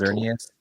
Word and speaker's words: Xerneas: Sorry, you're gonna have to help me with those pronunciations again. Xerneas and Yveltal. Xerneas and Yveltal.